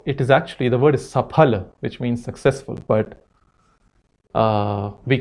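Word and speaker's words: सफल: And even brands, so it is actually the word Saphal which means successful, but we can’t spell it correctly, we can’t pronounce it correctly and its Safal and somehow it feel very polished about saying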